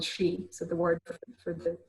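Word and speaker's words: sí: And the ring forts, which are also called she, so the word for the native term for fairies, she, or sheath might have been the old Irish way of pronouncing it.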